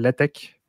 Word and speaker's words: LaTeX: son quelque chose qui s'appelle la tech donc ça s'écrit l ati x latex mais ça ce deal attaque